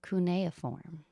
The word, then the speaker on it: cuneiform: This is called Mesopotamia Writing, Cuneiform. The correct pronunciation of this word is actually cuneiform.